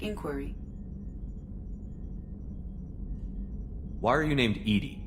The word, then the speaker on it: EDI: why are you named edie edie is the phonetic pronunciation of e-d-i that is are you